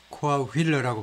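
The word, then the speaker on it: Coahuila: 이것은 또 어떻게 발음이 되냐면 코아후일라. 영어 발음할 때 가장 중요한 게 액센트인데요. 이것도 두 번째 음절에 액센트가 있고 이것도 두 번째 있네요. 코아휠러라고 발음하네요.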